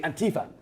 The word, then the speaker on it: Antifa: and I've been taught by an American to pronounce it properly Antifa.